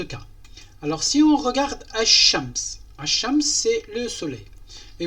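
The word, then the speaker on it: الشمس: Donc lui, il n'exige pas, ou bien il exige qu'on ne prononce pas le L de l'article L. Par la suite, ash-shams, donc on ne prononce pas le L.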